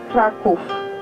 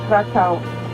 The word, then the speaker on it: Kraków: also was gave the name for the city Kraków. Yeah. So in Polish we say Krak, K-R-A-K, and if we speak in Polish Krakow, it's Kraków, K-R-A-K-O/W, Kraków. And in English it's spelled C-R-A-C-O-W, Krakow.